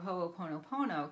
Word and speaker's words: hoʻoponopono: using the power of ho oponopono can really help you and it's spelled just like it sounds ho Oh pono pono with some spaces in it and you can get